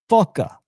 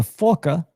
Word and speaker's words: PHOCA: This one here is called the PHOCA. Foca. That's how I pronounce that.